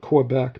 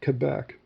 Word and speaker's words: Quebec: Now, a lot of a lot of American pilots call it Quebec, but it's actually Quebec.